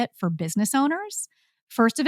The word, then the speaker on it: ONR: It's called Owner. It's spelled O''NR.